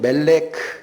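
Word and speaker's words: מלך: 그다음 밑줄 친 멜렉 이게 히브리어로 왕인데 앞에 and라는 단어가 들어갑니다. 이게 무라고 읽힙니다.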